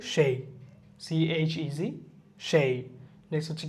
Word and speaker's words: chez: CHEZ, এটা হচ্ছে কি সেই, উচ্চারণ হচ্ছে কি সেই, CHEZ, সেই।